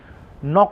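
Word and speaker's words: knock: नॉक ऑन, के silent है, नॉक on would, नॉक on would यानी नज़र ना लगे, ओके।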